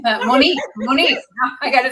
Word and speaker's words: Monique: Thank you, Monica. Monique, I got to say your name right.